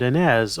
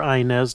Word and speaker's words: Inez: of a little girl named ANZ or inz depending on how you pronounce it now this is one